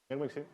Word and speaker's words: Mirmukhin: So we have a uniform convergence, as was pointed out by, it's Mirmukhin, your name. Is this correct? Mirmukhin? Okay, so I pronounced it correctly, thank you.